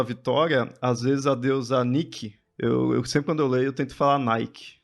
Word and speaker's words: Nike: Se eu não me engano, em grego é Nike. Nike, sim, já ouvi algumas Se eu não me engano, Nike.